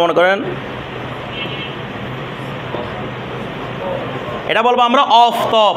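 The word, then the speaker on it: آفتاب: আচ্ছা, অনুরূপভাবে মনে করেন, তারপর মনে করেন এটা বলবো আমরা অফতব। কি বলবো রে? আফতাব বলবো না, কি বলবো? অফতব। ঠিক আছে? এটার উচ্চারণ কি হয়? অ হয়। এটার উচ্চারণ ফার্সিতে আ হয় না।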